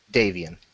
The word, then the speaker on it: Davian: Is it Davien or Davian? Davian. Okay. Sorry, I've been pronouncing it wrong.